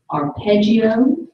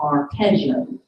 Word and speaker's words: arpeggio: job sorry your work can be pronounced two ways arpeggio or arpeggio arpeggio production of the